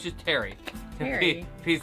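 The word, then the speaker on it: Pterri: Petery. How do you pronounce his name? No, it's just Terry.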